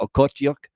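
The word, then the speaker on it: Okhotiuk: Nikita Okotyuk, that's how you say it.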